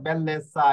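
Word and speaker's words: bellezza: আনসা রয়েছে ইন্টেলিজেন্সা পরে বেল্লেসা এই যে দেখুন এখানে রয়েছে আমাদের নিয়মটা কি নিয়মটা হচ্ছে কোন শব্দের শেষে আনসাই জিয়ার জিওনে থাকে তাহলে জ্যাতা অক্ষরের উচ্চারণ ছয় এর মত হবে এই যে দেখুন এখানে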